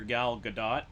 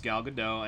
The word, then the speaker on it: Gal Gadot: for last week um i called her gal gadot i yep it's gal gadot and i butcher you